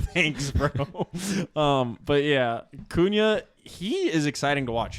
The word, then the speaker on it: Cunha: look that good last year or as Riley pronounced it Matthew Matthews cunha um how would you pronounce it like is